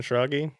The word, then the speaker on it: Schrage: It's Schrage. German. No one guesses.